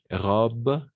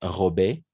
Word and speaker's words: robe: La fille a une robe, pas robée, robe blanche. De la même façon ici, A, A-N, on va prononcer comme un on.